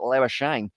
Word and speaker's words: Labuschagne: But yeah, he actually pronounces it Labuschagne, which is kind of an interesting one there.